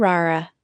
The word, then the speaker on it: rara: Consejo de pronunciación, recuerden trillar la R en rara.